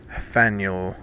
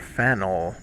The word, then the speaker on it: Faneuil: Don't let the French spelling confuse you. The name of this building is pronounced Faneuil or Faneuil. Getting it wrong is a good way to indicate you're not from around here, but it's also a